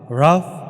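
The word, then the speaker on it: Ralph: ইউকেতে বলে রাফ। বাট ইউএসএতে তাকে রাফ হডসন বলে উচ্চারণ করা হয়। এলটা উচ্চারণ হয় ইউএসএতে।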